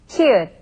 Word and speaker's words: 히읗: Let's try pronouncing it. 히읗, 히읗, 히읗.